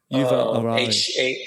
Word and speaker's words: Yuval Harari: How do you pronounce Yuval Harari. Yuval Harari.